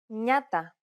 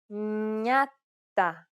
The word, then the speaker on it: Νιάτα: With an opening diphthong, it sounds like an N plus Y sound, exactly like the Spanish ñe, or similar to the N in the word new. Νιάτα. Νιάτα.